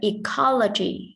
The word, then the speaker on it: ecology: And the word ecology, thì các em nhớ đuôi ology thì trọng âm cũng đứng trước nó. Như vậy ecology, right? Sẽ rơi vào co.